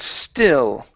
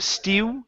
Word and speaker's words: still: Okay, pronounce a good L there at the end instead of stew. Stew, pretty. Remember, the L is a tongue movement. Still pretty. Still pretty. Okay, so you're moving your lips. You're saying stew, pronouncing an oo instead of an ol, an L.